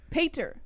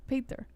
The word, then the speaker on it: Piotr: Pater, he says. Pater. His name is literally Piotr. It doesn't matter how it's spelled in English.